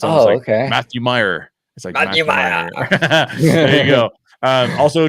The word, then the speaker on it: Muir: me this he goes if you say it like it's Irish or Scottish you could nail it so it's awesome okay Matthew Meyer there you go um